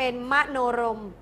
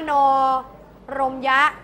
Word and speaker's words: มโนรมย์: ออก เสียง มา ละ เรา ไม่ อยาก อ่าน ว่า มโน รมยะ เรา ก็ มโนรม โดย ใช้ ไม้ ธัน